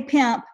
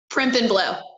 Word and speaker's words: Primp and Blow: I want to say Pimp, but that's not it. Primp and Blow. Primp. It is not Pimp and Blow.